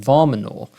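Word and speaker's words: Warmenau: So thanks to a colleague in the automotive industry who I do know, and she's pronounced it Varmanor, and that's how I'm going to pronounce it.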